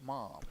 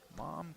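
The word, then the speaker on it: Mam: 66 freshman from Sagal it's spelled m a m but pronounced mom mom Kane seeing her first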